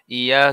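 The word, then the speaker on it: ي: ইয়া জিহ্বার মাঝ হতে নরমভাবে আদায় হবে।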